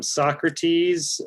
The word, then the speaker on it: Sawcruhteez: It is Socrates, spelled like it's pronounced in the dictionary, SAWCRUHTEEZ.